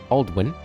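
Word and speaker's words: Aldwyn: Aldwin is pronounced Aldwin because of the long vowel sound on the Y.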